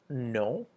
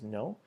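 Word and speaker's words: non: So the response is we which is yes, no, which is no. And make sure you add the the very faint N sound at the end. So it's not no like we have in English, it's no.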